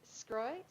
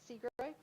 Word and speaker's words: Scroy: All right, the next one, Kate Scroy, Seagroy, 4-year, Scroy. Sorry, said it right the first time.